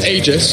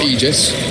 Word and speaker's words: Aegis: also need what they said you know it's ages not Aegis radiance many believers the Indus and ether lands